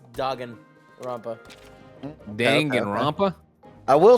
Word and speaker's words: Danganronpa: it's pronounced Danganronpa. Danganronpa.